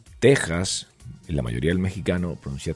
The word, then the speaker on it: Texas: se pronuncia teja o pronunciaban la X La pronuncian con j entonces pues como es